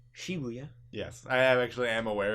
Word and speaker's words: Shibuya: done with day five and then day six shabuya and Harajuku where I bought this shirt Shibuya so uh it's actually pronounced Shibuya yes I actually am aware of that but